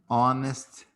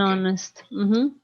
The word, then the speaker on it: honest: that's why we say for example he's an honest person because the age is not pronounced in the word honest and honest okay an honest thank you you know that this is the